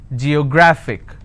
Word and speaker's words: geographic: a look at it geographic how many syllables do i have g yo grah fick and the rule says if i have a word ending with ic i need to stress on the second last syllable so i'll pronounce this as geographic if i have another word